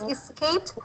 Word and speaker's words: escaped: And for this escaped, the last sound is T, okay? Not escape, Yes. T sound.